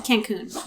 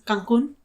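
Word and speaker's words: Cancún: And then the way you say Cancun is Cancun. Michael loves that. I'm pretty sure that's how you say it.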